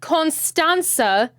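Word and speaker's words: Constanța: skip away Port of constanza they pronounce it constanza the T with the accent on the bottom have I even noticed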